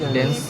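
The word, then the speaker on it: dens: কি ওডেন্ট process dance বা ওডেন্ট process dance বানানটা কিন্তু ডি ই এন এস ই নাই কিন্তু শেষে মনে রাখবা ডেন্স ডেন্স বা ওডেন্ট প্রসেস ঠিক আছে আর এই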